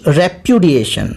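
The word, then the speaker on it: repudiation: इसका प्रोनाउंसिएशन हम कहते हैं कुछ रेप्यूडिएशन।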